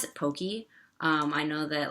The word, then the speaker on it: poke: how do you pronounced Pokey I pronounce it Pokey um I know that like the in the Hawaiian language the e sound is pronounced a um and so I